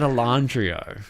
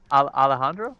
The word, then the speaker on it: Alejandro: allah alandrio i said alondrio alandrio oh that's all right that's the aussie squeaky yeah yeah can you can you say it again alejandro alejandra the j sounds like an h yeah yeah so you